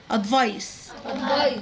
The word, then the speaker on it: advice: قلنا حرف السي لما بيجي وراه الاي او الاي او الواي يبقى صوته ايه؟ اس. ادفايس. ادفايس.